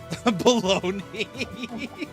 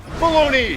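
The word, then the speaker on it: bologna: Bologoney. That's like literally very close to how it's spelled. That's pronounced entirely differently. Damn it. Baloney.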